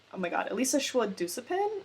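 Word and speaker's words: Elisa Shua Dusapin: Also the author of the other one I totally forgot to mention is Elisa Elisa Schwa-Dusapin, I think is how you pronounce it, for Winter and Sokcho.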